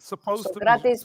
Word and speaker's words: Sokratis: I was born in London to Greek parents. So I'm going to pronounce his name the way it's supposed to be. Sokratis Papastadopoulos.